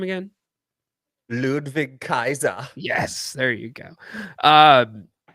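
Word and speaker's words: Ludwig Kaiser: don't say it right what's his name again ludvig Kaiser yes there you go um so anyways why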